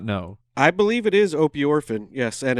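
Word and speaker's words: opiorphin: So there is something called, are we pronouncing that correct, Owl Borland, or do you not know? I believe it is opioorphin, yes, and it's Opioorphin?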